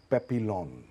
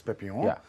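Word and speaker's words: Papillon: And तो मैंने देख लिया था एक फिल्म जिसका नाम है पेपिलॉन. पेपियन. P-A-P-Y-L-O-N. French pronunciation is पेपियन.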